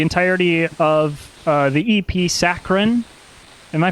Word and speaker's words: saccharine: of uh the ep saccharin am i pronouncing that correctly it's saturated actually no he's he's messing with you it's saccharine saccharin yes uh yeah but we're